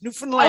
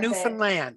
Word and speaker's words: Newfoundland: Newfoundland. I heard today it rhymes with understand. Understand Newfoundland.